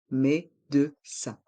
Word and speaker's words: médecin: un docteur une docteur dans le mot médecin il y a le son 1 avec les lettres I et n médecin et dans le mot